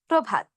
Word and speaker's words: প্রভাত: অধ্বনির সঙ্গে রফলা থাকার কারণে আমরা গ্রহ না বলে ও এর মতো উচ্চারণ করব গ্রহ। প্রকাশ না বলে ও এর মতো উচ্চারণ করব প্রকাশ। শ্রম না বলে ও এর মতো উচ্চারণ করব শ্রম। একইভাবে গ্রন্থ, ব্রত, প্রভাত। আবার বলছি, গ্রহ, প্রকাশ, শ্রম, গ্রন্থ, ব্রত, প্রভাত।